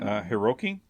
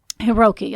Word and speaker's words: Hiroki: And so Chiune's oldest son, let's see, how do you pronounce his name? Hiroki? Hiroki, I think that's it. Hiroki would remember exactly how